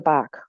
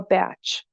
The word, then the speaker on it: Bach: so let's talk about Dr Bach or batch both pronunciations were correct he accepted both he wanted to be